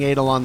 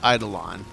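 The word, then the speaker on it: Eidolon: idolon I heard uh I've been saying adalon the whole time at least um Lotus pronounced it idolon so if uh space mommy says idolon I'll assume she knows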